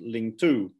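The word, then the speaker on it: 領土: newspaper in classical chinese however they are pronounced lingtu but they have exactly the same meaning governed land lingtu therefore carries a clear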